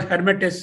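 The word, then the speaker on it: Lhermitte: L is silent. L, you did not pronounce that L. It's called Hermit's sign.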